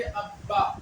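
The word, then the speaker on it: ابّا: मर्तबा दो मर्तबा देखिए बा पर तद है तो बा को हम लोग दो बार पढ़ेंगे इसको पढ़ेंगे अब्बा क्या पढ़ेंगे अब्बा अलिफ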